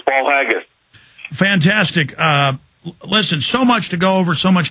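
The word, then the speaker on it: Paul Haggis: I'm pronouncing that Paul haggus I think I'm pronouncing that right uh Mr Miller it is it's Paul haggus fantastic uh listen so much to go over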